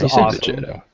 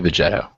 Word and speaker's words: Veto: It was Veto. He said Vetto. He did say VTO.